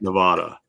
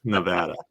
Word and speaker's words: Nevada: not apples at Nevada so it's not Nevada it's Nevada so um so yeah California